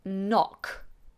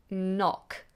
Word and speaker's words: knock: The next word is the word knock. knock And the same as with knackered, the K is silent.